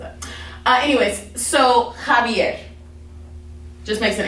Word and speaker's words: Javier: letter name and khutba actually makes an h sound so that's why we say when we see this word we say jalapeno okay or we see this person's name and it's javier javier not you know jbr which is my cousin's